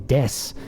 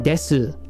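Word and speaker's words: です: me show you here this u just like i'm explaining right now is usually not pronounced either um and i have to be careful with the way i explain that because it's not fully left unpronounced but if you're not a native speaker or fluent yet you're going to have a hard time hearing when people are actually pronouncing or not so what are you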